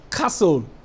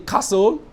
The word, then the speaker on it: castle: T the same with Castle you don't pronounce the T in Castle you don't pronounce the